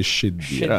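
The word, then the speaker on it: Cheddira: Sì, la pronuncia corretta è Scedira.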